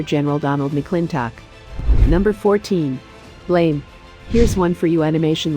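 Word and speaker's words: Blame!: Donald McClintock number 14 blame here's one for you animation lovers based on the manga of the same name pronounced blam the animation action drama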